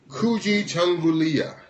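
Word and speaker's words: Kujichagulia: But it's Kuji Changulia. Kujigalia. Kuji Gulia. Kujigalia. Yes. Kuji Galui. It's spelled Kujichgulia. So it's Kuji Changulia.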